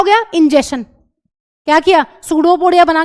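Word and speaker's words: pseudopodia: यह इसकी गई सेल मेंब्रेन आगे और इस तरीके से यह बनाता है सडोपोडिया। कोई बच्चा इसको पसूडोपोडिया नहीं कहेगा। पी साइलेंट है।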